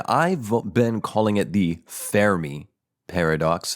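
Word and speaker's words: Fermi: the American pronunciation is fery fery that sounds like Furby and then the British pronunciation is FY FY f f you but the Italian pronunciation is and I've been calling it The Fairy Paradox Fair me Paradox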